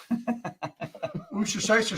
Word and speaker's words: Worcestershire: Worcestershire. Worcestershire.